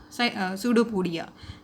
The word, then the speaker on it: pseudopodia: projection is called as pseudopodia. What is it called? Pseudopodia. P is silent over there, and it is called as pseudopodia.